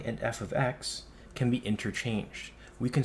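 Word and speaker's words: f(x): also pronounce it as f of x or another way you might say f at X so different ways you might um pronounce it but all it is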